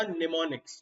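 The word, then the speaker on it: mnemonics: Techniques को technical भाषा में निमोनिक्स बोला जाता है। मिनीमोनिक्स कुछ नहीं होता, निमोनिक्स। ठीक है, एम क्या, कोई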